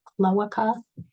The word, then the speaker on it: cloaca: I guess I've been saying it wrong. It's cloaca. It's a common cavity at